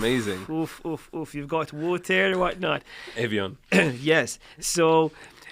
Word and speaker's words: Evian: Yeah, we're not doing French pronunciation. It's Evian.